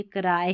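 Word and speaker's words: cry: फिर यहाँ पर जैसे छोटी स्पेलिंग में लास्ट में वाई आता है तो इसको आई पढ़ते हैं, नहीं तो ई भी पढ़ते हैं बड़े स्पेलिंग्स में, तो ये क्राई है, क्री नहीं, क्राई। फिर देखिए आगे DR आ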